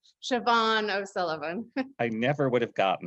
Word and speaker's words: Siobhan O'Sullivan: readers to, and I'm going to have you pronounce her name. Siobhan O'Sullivan.